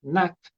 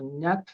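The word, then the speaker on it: Gnat: menos que se llama Nat se escribe con g como ñata pero Nat Nat se pronuncia y en el fondo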